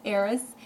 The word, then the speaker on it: Eris: is spelled e.r.s and I know it sounds like Aries so I just wanted to differentiate between the two because this dwarf planet Eris is in Aries and